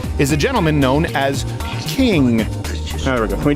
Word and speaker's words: King: a gentleman known as king there we go can we do that all right okay uh what's your name sir my name is King King like like a royalty like a royalty okay